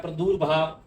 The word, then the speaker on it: प्रादुर्भाव: अगला शब्द यहां लिखा हुआ प्रादुर्भाव, यहां लिखा हुआ है प्रदुर्भाव, और शब्द का उच्चारण होता है प्रादुर्भाव, किसी का उत्पन्न होना।